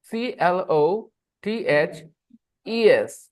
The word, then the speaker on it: clothes: wearing clothes the we are wearing clth clothes c l o t h e s the pronunciation is clothes clothes uh sh when to